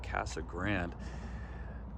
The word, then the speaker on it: Casa Grande: time in Casa Grande, aka as the locals say it, Casa Grande. Big house in Spanish.